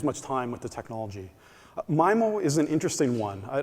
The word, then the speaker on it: MIMO: the time to vote is it pronounced myo or mimo and it turns out around 65 of the people attending the meeting thought myo was the appropriate way we should go forward around 24 said mimo 35 either in care